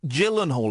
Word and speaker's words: Gyllenhaal: And Harry, 23, has overtaken dimpled celebs such as movie stars Brad Pitt and Jake Gyllenhaal. It's a soft G.